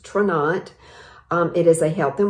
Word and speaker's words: Tranont: never even heard of traunate it's t-r-a-n-o-n-t it's pronounced trinat it is a health and wellness company based